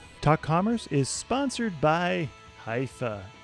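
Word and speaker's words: Hyvä: talk Commerce is sponsored by hia or as the Europeans say Hua or the right way to say it hoofa is rapidly becoming the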